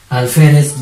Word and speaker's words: alférez: Alférez, ¿dónde lleva tilde alférez? En fe.